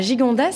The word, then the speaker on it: Gigondas: On est à Gigondas, c'est ça ? Oui, exactement. Est-ce que je le prononce bien ? Très bien. Je sais que c'est toujours un peu compliqué avec le S à la fin, mais effectivement, on tient à notre gigante.